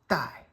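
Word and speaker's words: 怠: 4th tone. Dai. The sound component, which doesn't always sound exactly the same, but Tai rhymes with dai.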